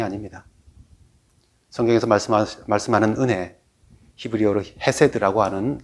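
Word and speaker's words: חסד: 성경에서 말씀하는 은혜, 히브리어로 헤세드라고 하는 그 은혜는 긍휼과 자비와 인자를 의미하는 단어입니다.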